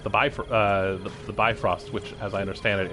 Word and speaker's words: Bifrost: buy for uh the bifrost which as i understand it is pronounced like beef host but i am not